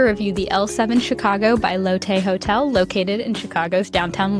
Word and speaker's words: Lotte: was doing the walkthrough, you'll hear me call the hotel L7 Chicago by Lotte. I wasn't quite sure how to pronounce it, but it turns out the correct version is L7 Chicago by Lotte.